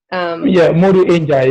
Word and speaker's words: Modou Njie: For those of you listening, Modou Njie, is that the correct pronunciation? Modou Njie, yes.